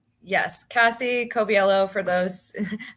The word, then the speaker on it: Coviello: Cassie Koviello for those. It's gets my name gets butchered all the time.